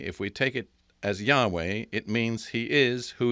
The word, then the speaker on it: Yahweh: he is so that there's a good reason to believe that yahweh was close to the original pronunciation of the name however there's another thing